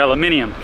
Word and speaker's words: aluminium: They're aluminium, what she's trying to say. Aluminum is how you pronounce it. It's aluminium, that's the stuff that doesn't really rust, it's like steel. It's spelled aluminum. No, it's spelled aluminium. No, you put an extra vowel in there.